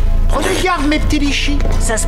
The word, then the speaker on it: litchi: Prends des gardes, mes petits litchis. Ça se prononce litchi.